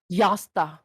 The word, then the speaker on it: Jasta: Yasta. How do you- It's just how it's pronounced. Jasta. Di ba Josta. yung J sa kanila ay Y?